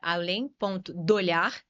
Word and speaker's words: alem.dolhar: Meu arroba é além.dolhar, esse D é mudo.